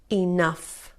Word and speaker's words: enough: Tough, rough, cuff, laugh, enough. Good job. Estas palabras lo que tienen en común es que la combinación GH se pronuncia como F, ¿ok?